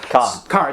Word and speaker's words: Kerr: Edith Hunter played by played by Deborah Kerr Car. Deborah Car. Uh spelled Kate. It is spelled car.